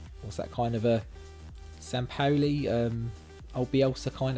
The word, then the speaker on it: Sampaoli: one three three what's that kind of a sampaoli um i'll be also kind of tactic sam